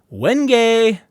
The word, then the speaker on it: Wenge: And here's an alternative to Silhouette called Wenge. I'm just kidding, it's pronounced Wenge.